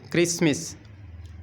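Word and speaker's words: Christmas: तो बन जाएगा चिसमिस टी साइलेंट है तो के को एच को काटेंगे तो फिर के की आवाज निकलेगी अब बनेगा क्रिसमिस यानी के एच को काटे तो फिर के की आवाज आ गई क्रिसमिस यानी क्रिसमिस ईसाइयों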